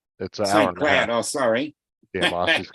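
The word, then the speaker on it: St. Cloud: uh traveling time to Sinclair then what do you mean how far do you you said you're going to Sinclair yeah it's uh Saint Cloud oh sorry yeah I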